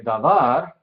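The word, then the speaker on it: דבר: Entonces, otra vez usando el ejemplo de davar, da es la sílaba pretónica. ¿Ok? Entonces, var tónica da pretónica porque viene antes.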